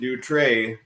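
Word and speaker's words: Dutrait: there's a guy called Vincent D tray but it's spelled with a it's he's French so he's French Canadian so it's spelled D trit but if anyone wants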